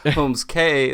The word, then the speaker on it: Holmes Cay: middle name is Holmes, so your last name is pronounced K, so Holmes Cay.